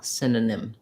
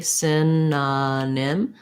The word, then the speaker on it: synonym: go slowly synonym synonym i think it's mostly tough because of the spelling is so unusual and then also kind of going back and forth between those n and m sounds might be a little challenging um so hopefully that